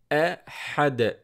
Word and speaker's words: أحد: قُلْ هُوَ اللَّهُ أحد. It ends with D sound, with dal, the letter dal.